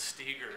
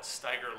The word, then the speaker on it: Stieger: When we actually built our building here, we pronounced it Stieger Lake Stores because the family had actually been in when we were doing our development, and that's how they had said they pronounce it.